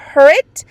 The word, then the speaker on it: Hurit: Is pronounced who? Who? Rit. Hurit. Who? Wow, we were way off. Hurit. So it's Hurit.